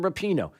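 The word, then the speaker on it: Rapinoe: the sports networks know why uh megan rappano repino how do you say her name is it repino yeah megan rapino she's one of the most outspoken members of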